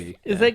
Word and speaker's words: RWBY: I caught up and watched all of Ruby, the Rooster Teeth animated series. Oh, okay. RWBY. I think it's pronounced Ruby. It is Yeah, pronounced it is. Ruby.